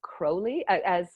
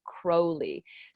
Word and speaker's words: Crowley: and it's spelled Crowley, which I would have pronounced as Crowley, Crowley, but in fact there was a big point about his name being pronounced Crowley.